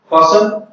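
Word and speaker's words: fasten: फासन टू a small wooden box, फासन की मानी होगी लगा हुआ था उसमें टी साइलेंट, एक छोटे से लकड़ी के डिब्बे के साथ।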